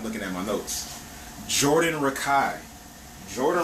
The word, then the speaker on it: Rakei: Jordan Rakai is like neo soul, R&B. He's a multi-instrumentalist. His tone is incredible. His music is so soothing. Like, just listening to him sing is amazing. Jordan Rakei. Rakei is spelled R-A-K-E-I.